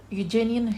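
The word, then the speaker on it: Euganean: फिर द चैंची, then lines written among the, इसको आपने ई को प्रोनाउंस नहीं करना, यूजेनियन हिल्स, द यूजेनियन हिल्स, राइट.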